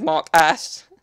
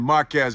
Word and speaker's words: Marques: He said Mark Ass. Mark. It's got a Q in there anyway. Mark, not Marcus, but not Mark Up. Fortnite and Marques Brownlee.